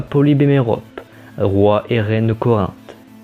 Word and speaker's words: Mérope: Je prononce Œdipe et non Édipe, comme je dis Polybe et Mérope, et pas Polybe et Méropée.